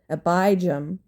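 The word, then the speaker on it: Abijam: his son Abba Jam I want to pronounce that correctly hold on well I would have been wrong so his mother was neyma an ammonite woman then his son abijah became the next king moving on to chapter 15.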